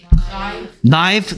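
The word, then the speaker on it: knife: 오케이 그래서 나뭇잎 나뭇잎들 나이프 나이트 K 소리 안 나죠 늑대 늑대들 워프 워즈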